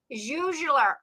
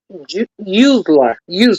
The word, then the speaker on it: Useler: Juzeler. Did I pronounce that correctly? Juzeler? Useler, just like it's like that. Just forget the J.